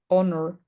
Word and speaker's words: honor: Our, hey, air, honor, ghost, white, ghastly, and wild. In these particular words, we don't pronounce the H, okay?